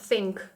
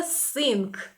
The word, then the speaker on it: think: To think – думати. В котрий раз нагадую про вимову цього слова. Мені здається, що вже всі мають запам'ятати, що буквосполучення th читається як th. Think. Think – це не sink.